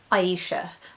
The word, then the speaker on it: Ayesha: first fact about me you pronounce my name Aisha um a lot of people have trouble with that and if I don't